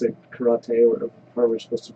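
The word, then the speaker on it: 空手: Karate. Karate. That's the Americanized version. Yeah. Sure. In Japanese, te is pronounced te, Karate. so it's karate.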